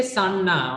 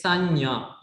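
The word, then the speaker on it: Sañña: Don't say Sanna, okay? It is Sanya. How do you say that? Sanya. Nya, nya. Okay?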